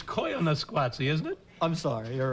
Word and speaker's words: Koyaanisqatsi: you very much but and I think it's Koyaanisqatsi isn't it I'm sorry you're right i mispronounced no one here cares but you and